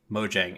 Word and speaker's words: Mojang: they're no longer just Mojang and we found out it is Mojang so I've been saying it wrong for forever mhm I knew